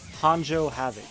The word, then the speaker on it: Hanjo Havoc: can hear me just fine how's my name pronounced it's Hanjo Havoc that's that's how I came up with it